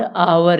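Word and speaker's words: hour: तो आवर को जो हम पढ़ते हैं ये आवर पढ़ते हैं, आवर। इसकी शुरुआत स्वर से हो रही है, वावल से, इसलिए हम यहाँ पर एन का प्रयोग करेंगे।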